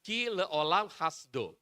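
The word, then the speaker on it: כי לעולם חסדו: Yang ini keolam hasdo itu dibacanya kile ololam khasdo.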